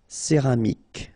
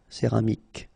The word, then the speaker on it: céramique: Okay, so remember this Q-U-E here will give you the sound K. Okay. Céramique, because you don't insist on the final E. Céramique.